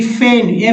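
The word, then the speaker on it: feign: फॉरेन, फॉरेन में जी का उच्चारण यानी विदेशी। फिर देखिए फेन, FEIN, फेन, फेन मीन्स होता है बहाना करना।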